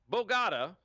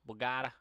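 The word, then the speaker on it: Bogotá: Bogata. Bogata. You're putting the wrong emphasis on the wrong syllable.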